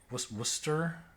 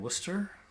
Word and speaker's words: Worcester: calculus calculus and Wednesday lots of silent letters in Wednesday and Worcester H Min maybe this